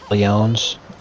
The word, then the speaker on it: Lyons: kill Nick, I guess his last name was Lyons, and I'm pronouncing it that way because it's spelled in the way like the city in France, Right.